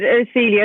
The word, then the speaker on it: Urcelia: And, oh, I'm Urcelia. So it was like internet friend. But now you have it, Urcelia.